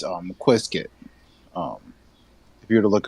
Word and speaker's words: Qiskit: I asked him to spell it out for me. What was it? Not Nesquik, but Qiskit.